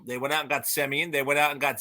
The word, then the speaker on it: Semien: They went out and got Semien. They went out and got Seager and the great John Gray, who maybe outside of Colorado will pitch well. Who knows? Some people would pronounce it Seaman, but whatever.